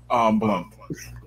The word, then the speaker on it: Blount: Is it Blount? Blunt. Blunt? Oh my God, not Blount. Sorry, that's the most British way to say that.